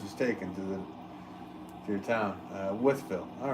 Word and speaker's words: Wolfville: Wolfville.